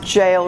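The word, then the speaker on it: Jael: jail comes in j-a-e-l apparently it's pronounced jail rhymes with nail so cicera escapes on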